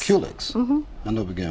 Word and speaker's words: Culex: How do you pronounce it? Culex? Culex. Culex.